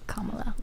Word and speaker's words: Kamala: Like a comma, like a punctuation mark. Oh, okay. Kamala.